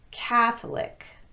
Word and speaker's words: Catholic: don't follow this pattern here are the words that are exceptions to our rule they're all stressed on the first syllable with the exception of the last one Catholic bishopric politic arsenic lunatic